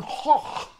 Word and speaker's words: Gogh: But if you, an English speaker, are trying to say it correctly according to the Dutch, just say Vincent van Gogh.